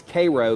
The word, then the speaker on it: Cairo: grew up it was it's Cairo but if anybody called it Cairo people would get mad but it spelled like Cairo Egypt even here in Middle